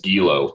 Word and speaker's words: Guilo: Pretty pronounced as Gilo. There's no Gui in there. But then the other audio book calls it Gilo.